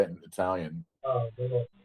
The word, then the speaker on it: Bologna: Bologna. Bologna.